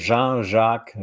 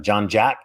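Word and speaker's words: Jean Jacques: as full name is Jean jacqu and I go by when I was working overseas it couldn't pronounce my name uh so then became John Jack hey John Jack and they would I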